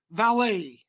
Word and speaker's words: valet: without a doubt right valet is the proper pronunciation yeah and even there's